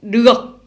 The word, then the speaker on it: được: Ici, nous avons un D avec une barre horizontale au milieu. Et ça se prononce comme un D en français. Si le D n'avait pas cette barre horizontale, ça se prononce Z, comme un Z.